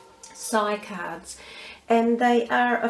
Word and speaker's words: Psy: cards i use are called sci cards which is spelled p s y sigh cards and they are